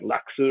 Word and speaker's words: Lacus: the English dub, and like Lacus, her name, and then when you hear it in Japan, they pronounce it closer to something like Laksu or something like that.